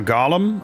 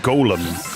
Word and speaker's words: Golem: Isn't uh Gollum uh pronounced Golem or am I thinking of Smeaggle too much? That's a good question. Is it? Yeah. Gollum or golem. Um, legendary gollum pronunciation. Let me let me verify that actually. Golem. Yeah. No, that's British and American. Golem. Yeah. No, you're right. Golem.